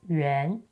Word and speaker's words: 袁: In traditional Chinese, the character 袁 is used as the sound brick, pronounced yuán, while simplified Chinese uses 元 instead.